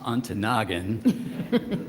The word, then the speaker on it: Ontonagon: She said, well, first, it's pronounced Ontonagon. And yes, it's got to be about one of the coldest places in the country.